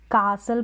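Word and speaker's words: castle: उनको देखेंगे प्रोनाउंस करके और टी साइलेंट है इनमें देखें जैसे ये है इसको हम कैसल पढ़ेंगे कैसल भी प्रोनाउंस कर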